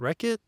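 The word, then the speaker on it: Rekhyt: Is it Rakit or is it Wreckit? In the audio book, he pronounced it Wreckit.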